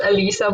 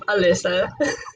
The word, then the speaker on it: Alyssa: I There's this thing that I keep telling that it's actually pronounced Alisa, but it's been mispronounced so much that I call myself Alyssa.